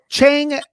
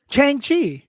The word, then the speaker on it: Shang-Chi: Shang-Chi. Shang-Chi. You Is said that what you said? Chang? Chang-Chi. Chang? Get Shang-Chi. out of here. May Shang-Chi. 7th. Chang-Chi. S-H-A. Shang-Chi. Shang, man. Shang. Shang.